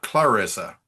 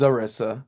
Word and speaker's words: Zarissa: Um, is it is it it's not Clarissa? It's Zarissa.